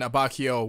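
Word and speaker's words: Abbacchio: Fugo has always seemed solo dolo to me, and Abacchio, which is apparently how you say it right now, and it's not Abacchio, which I was just astounded on, is actually the true hard ass.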